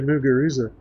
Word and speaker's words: Muguruza: She's from Spain, so the Z makes a sound. In Spanish, when you're speaking Spanish, it does. So, but I'm not speaking Spanish when I try to say her name and I'm speaking English. So I just say Muguruza.